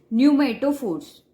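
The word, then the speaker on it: pneumatophores: अब ये जो फॉर्मेशन है रूट्स का, इसे बोलते हैं न्यूमेटोफोर्स। न्यूमेटोफोर्स। तो कहीं पे भी आपको ये वर्ड दिखे, न्यूमेटोफोर्स से स्पेलिंग पी से स्टार्ट है, ठीक है।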